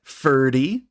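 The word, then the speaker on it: Ferdy: furniture store we've got Fury and you can remember him because it rhymes with nerdy and he is the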